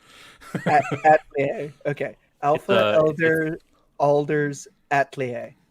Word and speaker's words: atelier: Atelier? Yeah, it's French. You don't pronounce the R on the last one. Atelier.